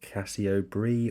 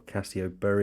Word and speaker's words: Cassiobury: I've heard people pronounce it Casio Brie or Casio Bur, I think, possibly depending where you're from. I'm going to stick with Casio Bur because I think that is correct, but if it's wrong,